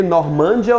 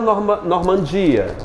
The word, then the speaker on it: Normandia: Normândia ou Normandia? A mais forte é o de.